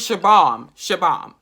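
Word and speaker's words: Shubham: Hold on, let me just see how to pronounce his name. Okay, people, his name is Shabam.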